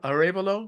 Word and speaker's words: Arévalo: Hey, so Carlos, is your last name Arévalo?